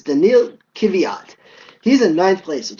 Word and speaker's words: Daniil Kvyat: I hate getting people's name wrong, but it's Daniil Kvyat.